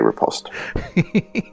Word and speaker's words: riposte: he's only allowed he's only allowed to repost if he pronounces the t yes i do say riposte oh on to carry